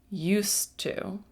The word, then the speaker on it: used to: both of these Expressions I'm using a hissing sound used to I am not using a z sound like in the word